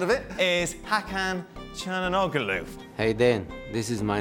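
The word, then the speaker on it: Hakan Çalhanoğlu: any words about the sound of it is hakkhan and ogaloof hey then this is my name i can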